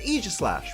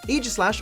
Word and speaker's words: Aegislash: it EA slash cuz that's how they pronounce in the anime you're going to just have to get used to it mate EEG slash always starts a battle